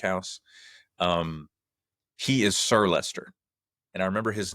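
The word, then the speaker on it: Leicester: out in is it Lchester? Lchester. What is that? Is that in the United Kingdom? Yeah, Lchester. I think it's pronounced Lester.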